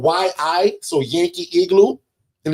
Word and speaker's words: Yi: We use a a brand called Yi. So Yankee igloo and it's pronounced Ye home camera.